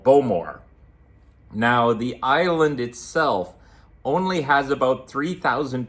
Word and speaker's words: Islay: So we boarded the bus tour to an island called Islay. Despite how it's spelt in English, it's pronounced Isla.